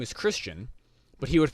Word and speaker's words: Christian: oh my name is christian but he would pronounce my my name is chris wren and i actually i